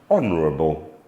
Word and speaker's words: honorable: onto the letter H H is often silent at the beginning of a word the earlier example that we gave you was hour as in the time measurement another example would be honest honorable please note that when